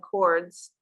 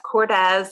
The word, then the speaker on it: Cordes: And when I looked at it phonetically, I said cords. And right. So that's Cordes.